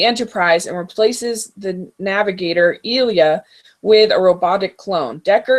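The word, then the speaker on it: Ilia: You kept mispronouncing things, which made me crazy. It's Ilya.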